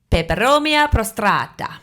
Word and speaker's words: Peperomia prostrata: Peperomia prostrata.